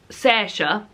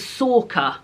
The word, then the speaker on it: Sorcha: of this, tell me how the name Sorcha, which is spelled S-O-R-C-H-A, is said. Because I thought I said Sersha. Somebody told me that was wrong. It's spelt Sorcha, and then somebody else said it was Sorka.